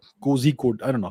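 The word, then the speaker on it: Kozhikode: various countries by the Indian Institute of Management Kohli code cozy code I don't know how to say it yeah it's Koli code uh here's a different report of that Taliban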